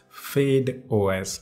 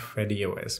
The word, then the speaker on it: FydeOS: video about videos that it is pronounced as fade os not freddie os but it is in